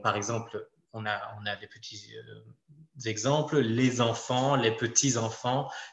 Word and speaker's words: petit: Donc « petit », on n'a pas de prononciation du « t ».